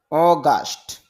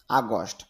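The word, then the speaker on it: August: অগাস্ট আগস্ট, যদিও আমরা আগস্ট বলি, তবে ইংলিশটা খেয়াল করেন, আইপিএ যে উচ্চারণটা দেওয়া হয়েছে প্রথম হলো স্ট্রেস মার্ক, তাহলে অ, তারপরে কোলন সিম্বল মানে টান হবে, তাহলে উচ্চারণটা হবে কি অ, এরপর গ আ গা, এরপর স ট অগাস্ট। আর যদি এখানে দেখেন এই ইউ জি ইউ এস টি, এখানে আপনি ইংরেজি হিসাবে এটা এস বলতেছেন, কিন্তু আইপিএতে এটাকে বলতে হবে স সাউন্ড।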